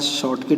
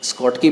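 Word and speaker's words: Schottky: बहुत सारे लोग इसको शॉर्टकी पढ़ते हैं, बहुत सारे टीचर्स को स्कॉटकी पढ़ते हैं।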